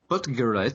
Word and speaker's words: Buttgereit: It feeds in to pretentious German director Jörg Buttgereit. That might not be pronounced correctly, but the first part of his last name is Butt.